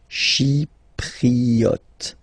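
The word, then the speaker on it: chypriote: Shipriot. She remember this e is pronounced like e. Okay. Shipriot.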